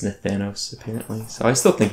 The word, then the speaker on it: Nathanos: And when we get there, we'll try to take down Nathanos. Also, I've stopped pronouncing it Nathanios.